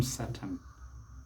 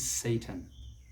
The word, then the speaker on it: Satan: is that satan satan don't call him satan it is satan satan that's not that